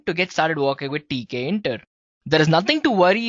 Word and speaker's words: Tkinter: TK enter guys yes it's spelled as TK enter right so it's t k i n t e r guys well among all